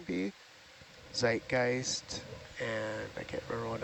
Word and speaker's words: Zeitgeist: I'm not sure if you saw this comment while I was gone, but uh somebody said zed in German is always pronounced like T's or TS, by the way.